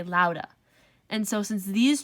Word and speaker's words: lauda: So if you were to pronounce this in your head, you would not say lauda. You would say lauda.